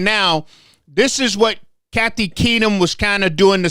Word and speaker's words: Keenum: Keenum, yes, sir.